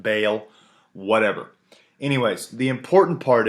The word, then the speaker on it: Baal: This is a figurine or an idol dedicated to Bale. B A L. I say ball. Apparently, it's pronounced Bale.